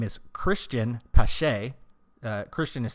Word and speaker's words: Pache: His name is Cristian Pache. Christian is spelled weird, Cristian.